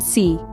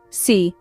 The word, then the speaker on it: se: profor now let's learn C this one is a bit tricky it can mean oneself or himself or herself or itself depending on the context it's pronounced like say an example sentence would